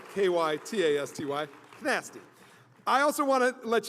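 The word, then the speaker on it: Kytasty: And Nasty, by the way, is spelled K-Y-T-A-S-T-Y, Nasty.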